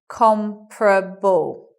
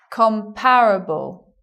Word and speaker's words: comparable: becomes you anticipate comparable you anticipate four syllables but you get three comparable with the stress on the first so the stress being